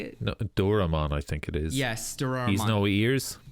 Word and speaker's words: Doraemon: Dorono? Is that how you say it? No, Doraemon, I think it is.